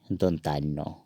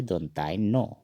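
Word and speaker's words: দন্ত্য ন: इसको हम न कहते हैं न, और असमिया में इसको कहेंगे दोनताइनो, उच्चारण इसका इस तरह होता है दोनताइनो, दोनताइनो।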